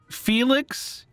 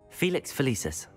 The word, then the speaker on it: Felix Felicis: I'm going to go with Felixus? That's not even how you say it, is it? I'm just doing this by process of elimination. I really thought I remembered this. Felix Felicis.